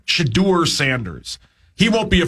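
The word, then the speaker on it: Shedeur: your job is safe how you say it shadur shadur Sanders he won't be a first round pick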